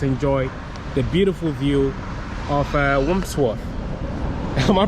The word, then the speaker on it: Wandsworth: I don't know, I can't pronounce the word. It's Wandsworth. Yeah, is that the right word? I'm not pronouncing it. I think I have some speech problem today. It's Wandsworth.